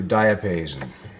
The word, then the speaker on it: diapason: So, moving over to diapason, which is the correct pronunciation.